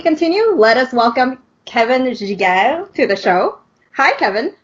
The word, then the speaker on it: Giguere: It's going well, and you did a great job pronouncing my name, so congratulations. I definitely heard the French accent in that one.